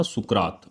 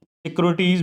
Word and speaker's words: सुकरात: हुए जिनका नाम था सुकरात। सुकरात, सिक्रोटीज भी बोलते हैं कुछ लोग, है ना, बहुत अलग अलग तरह के प्रोनाउंसिएशन है।